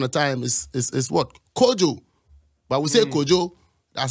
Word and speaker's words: Kojo: Maroons once upon a time is is what kojo that's how I pronounce it you know and the kwamis and